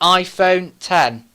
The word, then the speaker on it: iPhone X: for brand new smartphone the iPhone 10 which is spelt V iPhone X now they used X because the number 10 was in Roman numeral the letter x sv roman numeral for number 10 that's because this is